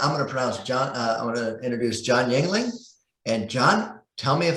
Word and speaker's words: Yuengling: guest before we started was how to properly pronounce his last name. So with that, I'm going to introduce Jon Yuengling.